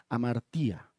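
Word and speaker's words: hamartia: hecho de que pecado en griego quiere decir se se escribe o se pronuncia amartía.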